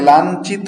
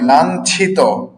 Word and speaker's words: লাঞ্ছিত: হ্যা যেমন চ চ সং কি হল পঞ্চ এদিকে লক্ষ্য করুন পঞ্চ এটাকে অনেকে লাঞ্চিত বলেন লাঞ্চিত নয় লাঞ্ছিত এটা হচ্ছে ব্যঞ্জন ব্যঞ্জন নয় ব্যঞ্জন আর এটা